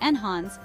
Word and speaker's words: enhance: better or more desirable the pronunciation is enhance with the stress on the second syllable use enhance when you